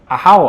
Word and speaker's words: Ajaw: The spelling is Ajaw, but the pronunciation is yes. Ahao, I think.